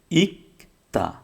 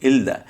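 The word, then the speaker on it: 읽다: ছিল না, তাহলে হয়তো এলদা। কিন্তু ওটা না হয়ে আমরা জানি যে রিউল আর গিয়ক থাকলে রিউলের উচ্চারণটা বাদ যাবে, তাহলে হবে কি, ইকতা, ইকতা অর্থ হচ্ছে পড়া।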